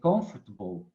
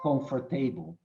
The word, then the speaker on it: comfortable: their sentence and make sure that they say comfortable and not comfortable okay but you may ask me wilson where